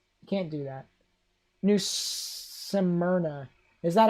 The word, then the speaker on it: Smyrna: New Smyrna. Is that how it's pronounced? Smyrna.